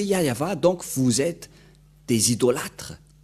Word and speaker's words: Yahvah: Si vous n'avez pas prononcé Yahva, donc vous êtes des idolâtres.